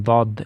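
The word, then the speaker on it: ضاد: Дад — это не буква Д, а дад.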